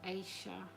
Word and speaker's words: Aisha: Some sources say Aisha was or Asia, which is spelled A I S H A, is a was a real historic figure, a noble woman from Iberia.